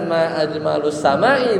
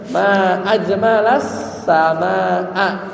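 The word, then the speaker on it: ما أجمل السماء: Ngomongnya bukan ma ajmalus samai, tapi gimana? Ma ajmalas samaa gitu ya.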